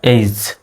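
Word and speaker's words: age: aunt জাইয়ান্ট এবার দেখুন এ জি এর পরে কোন লেটার আসছে ই আসছে সুতরাং জি এর উচ্চারণ জ এর মতো তাহলে এ জি ই এইজ যদিও আমরা এজ বলি তাহলে সঠিক উচ্চারণ হলো এইজ এর পরে ই আই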